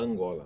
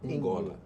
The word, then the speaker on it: Angola: Everyone speaks Angola but it is pronounced (U)ngola.